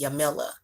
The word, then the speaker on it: Jamila: Like with my name, the J is supposed to be silent. So it's supposed to be Yamila or Yamila, like Yamila.